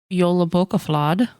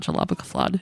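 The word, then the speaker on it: Jólabókaflóð: believe for I was I was pronouncing jalaba flad you guys it's not jalaba flad it's Yola b um but it's the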